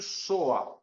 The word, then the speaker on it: SOA: Eh, em inglês, Service oriented Architecture se pronuncia muito soa, se fala muito soa para se referenciar esse tipo de arquitetura, tá certo?